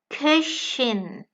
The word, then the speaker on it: Köchin: Köchin, a female chef. So pronunciation has changed a lot because the O from the male profession has become Ö in the female profession.